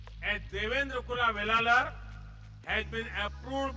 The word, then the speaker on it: Devendra: I said that their name, Devendra, rhymes with my own name, Narendra. I understand their emotions.